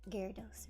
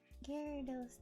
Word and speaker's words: Gyarados: It's pronounced Gyarados, right? That's how I heard it in the Pokemon anime.